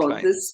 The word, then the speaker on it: klein: I and E is it's pronounced clean. E. It's No, klein. Klein.